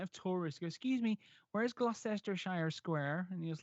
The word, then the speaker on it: Gloucester: it's Lester Lester and the other one is Gloucester not Gloucester for whatever reason the amount of touristic excuse me whereas Gloucester Shire square and he was like that doesn't